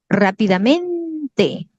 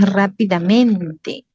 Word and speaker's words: rápidamente: Yo a veces con esta palabrita a veces escucho que alguien dice rápidamente, ¿no? Y no es rápidamente, no existe eso. No, la forma, esta palabrita es implementó rápidamente, ¿no? Porque la sílaba tónica, la mayor fuerza de voz está aquí, ¿ya?